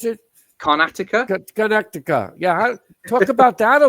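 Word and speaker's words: Karnataka: Is that how you pronounce it? Carnatica? Carnatica.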